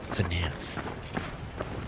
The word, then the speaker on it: FNAF: Is FNAF the term? I'm not aware of the lingo. I'm saying it right? Okay. Okay, FNAF.